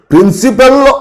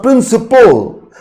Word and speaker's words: principal: The pronunciation should be principal. It's not principle. Principle is different. Principle and it is principal.